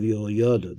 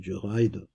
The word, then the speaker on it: Jehoiada: Benayo, son of Yoyada, that's really how I pronounce it, Benaiah, son of Jehoiada, was a valiant man of many achievements.